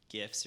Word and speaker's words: GIF: kind of just animated, GIFs or GIFs, depending how you say it, useless facts, yo mama jokes, and it had like breakdancing instructions.